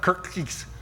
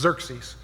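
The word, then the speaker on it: Xerxes: say that it's not Kirk geeks today axis is actually pronounced as a Z so it's Dirk C's okay mm-hmm excuse me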